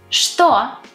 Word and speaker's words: что: Что, yes, it's spelled with ч, but we pronounce ш.